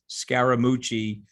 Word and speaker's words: Scaramucci: was a pejorative but that's the third syllable of my last name and i had a